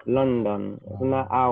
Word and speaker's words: London: No es London con O, sino como una O que suena como una A. London.